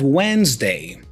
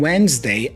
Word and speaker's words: Wednesday: usually happens here is we don't pronounce the d so we say when when and then we make a z sound right after w w